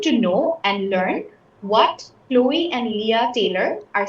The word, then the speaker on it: Chloe: Not cha. It's Chloe. Say it. Slowly. Yes. Chloe. Pronounce it like a K. Chloe. Chloe. Like we say club. Same way, Chloe.